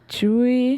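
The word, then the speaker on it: Tzuyu: of her being like how do you pronounce it yeah it's chewy yeah from twice yeah that's that sound no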